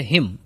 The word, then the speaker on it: hymn: सबसे पहला जो वर्ड है इसमें वो है हिम. इसमें एन साइलेंट होते हैं, एन नहीं बोला जाता है, केवल एम तक ही बोला जाता है. HYM. इसको हिमन नहीं पढ़ेंगे, इसको हिम पढ़ेंगे, रीड करेंगे, प्रोनाउंस करेंगे.